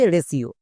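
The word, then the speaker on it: ratio: একই রকম ভাবে রেশিও চলো এবার উচ্চারণ করি আর এ এর জন্য রা টি আই ও এর জন্য সিও মানে রেশিও এবার এখানে দেখো টি আছে টি এর জন্য কিন্তু ট হয়নি এখানে দন্তস হয়েছে কেন এর ক্ষেত্রে নিয়ম হচ্ছে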